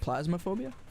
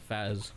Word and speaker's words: Phasmophobia: Is it Plasmaphobia? Phas? Oh, is it pronounced Phaz? Phas, yeah, not Plas.